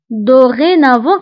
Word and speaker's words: dorénavant: من الآن فصاعدا دورينافون فبالنسبة لدورينافون هنا أيضا أو نكتبها بأكسون إيغو وبالنسبة للتي فنكتبها في آخر الكلمة ولكن لا ننطقها فقلنا بالنسبة لديزورمي ودورينافون